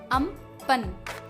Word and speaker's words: Amphan: 20 मई 2020 को जो cyclone India को हिट करने वाला है उसकी स्पेलिंग है AMPHAN, बट इसका प्रोनाउंसिएशन है अम्पन।